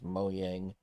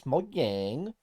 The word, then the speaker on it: Mojang: I think it's Mojang. Because you say it like you're from Sweden. You say it like you're from Sweden. It's not Mojang, it's Mojang.